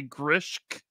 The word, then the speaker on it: Grishk: I'm going to say Grishk. You are correct.